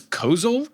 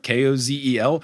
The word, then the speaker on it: Kozel: words in front of me but I will butcher the name the brand of the beer is Kozel k-o-z-e-l their logo Kozel thank you their logo is